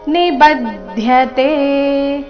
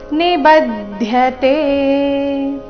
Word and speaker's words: ನಿಬದ್ಧತೆ: ಸ ಮೇಲೆ ಆಘಾತ ಸಕ್ತೋ ನಿಬದ್ಧತೆ ಬ ಮೇಲೆ ಆಘಾತ ಗಮನಿಸಿ ನಿಬದ್ಧತೆ ಪೂರ್ತಿ ಶ್ಲೋಕ ಯುಕ್ತಃ ಕರ್ಮ